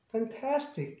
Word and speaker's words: fantastic: fantastic 이렇게 발음을 하겠죠.